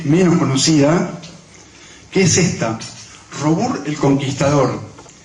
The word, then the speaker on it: Robur: Yo tengo acá mi novia que se porta en francés, me puede corregir, es Robur, está bien pronunciado. Robert, bueno, Robert, vamos a decir Robur total está escrito.